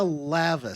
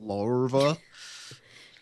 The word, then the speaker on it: lava: Lorva. Lava. Lava. Lava. Lava. There's no there's no R in the word, so it's definitely just lava.